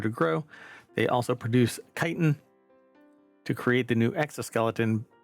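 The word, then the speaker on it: chitin: growing that or producing chiton or kitan. Chitten. It's kitan. But anyway, um at least as far as I know, it's always been pronounced kiten.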